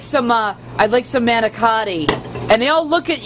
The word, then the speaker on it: manicotti: I'm not Italian, so I actually say it the way it's spelled. What are manicotti. You? Manicotti. Not manigut. Yeah, man. Or manigut.